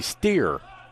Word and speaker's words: Steer: checks back in now they say it's Mackenzie steer instead of store so I apologize if